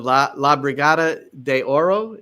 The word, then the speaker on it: La Brigada de Oro: It's the La Brigada de Oro. Am I pronouncing that?